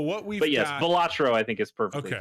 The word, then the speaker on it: Balatro: Yeah, just Balatro.